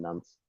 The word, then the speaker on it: Nantes: I was thinking, how do you pronounce it? But there you go, Nance.